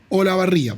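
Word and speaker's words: Olavarría: programas nosotros es el señor kennet p o la barria porque así se pronuncia No es cierto muy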